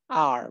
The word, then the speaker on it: hour: I will see you in an hour. An hour, because H is silent, so we use an.